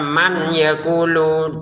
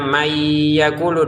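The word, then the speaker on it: مَن يَقُولُ: Jadi jangan dibaca man yakulu, tapi bacanya may yakulu, dimasukin dengan dengungan tahan, dua dengungannya ditahan. Kesalahan pertama dibaca jelas man yakulu, salah.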